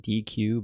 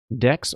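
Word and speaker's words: deque: called a deck a it looks like DQ but it's supposed to be pronounced deck I believe and it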